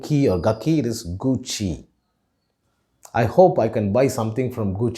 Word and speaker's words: Gucci: this brand name is gucci the double c should be pronounced with a chair sound so it is gucci it is not or gaki it is gucci i hope i can